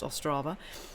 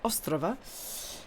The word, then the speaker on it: Ostrava: One thing I will say for Ostrava, which was where I was, which I realise isn't pronounced Ostrava, it's Ostrava.